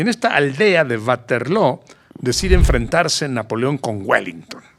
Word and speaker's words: Waterloo: Y decide que va a enfrentar a los ingleses cara a cara en Waterloo. Así dicen los belgas. Waterloo. En inglés dicen Waterloo, Ajá. porque pronuncian como en inglés.